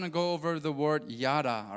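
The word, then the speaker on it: yadah: Today, I just want to go over the word yada, all right? This is how you spell it.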